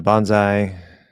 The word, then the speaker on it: bonsai: the rest uh which what syllable receives primary stress uh the first one Bonsai Bonsai I know